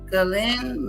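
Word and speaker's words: Ghislaine: Galain Maxwell Galen Maxwell Galen Maxwell Galen's Maxwell Galen Maxwell Galen Maxwell. Galen Maxwell. Okay, so that's how you say it.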